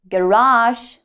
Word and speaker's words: garage: Garage or garage. So both options are correct.